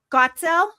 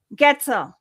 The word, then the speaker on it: Goetzel: Ron Gotzil. I forgot to ask you if that's how you pronounce your last name. Did I get that? Get is the way to pronounce it. Getel.